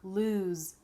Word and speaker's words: lose: Loose has the S sound, loose, Then we have lose, lose, that's the Z sound.